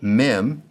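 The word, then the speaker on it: מ: In the right hand column, mim sounds like the M in mother.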